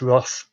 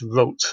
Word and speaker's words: Roth: last few years have pronounced his surname as he would have done which is wrote or if you want to be really Germanic about it with a kind of rolled RO.